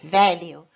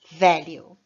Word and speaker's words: value: a tônica no final, mas aqui em inglês, value, a tônica é no começo. Value.